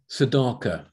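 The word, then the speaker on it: צדקה: star in his days sadaka that is how the word is actually pronounced so simple as that the second hebrew word is sadaka and that is talking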